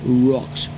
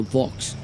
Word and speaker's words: Vox: Sometimes it feels like I'm saying rocks. Rocks, no, Vox.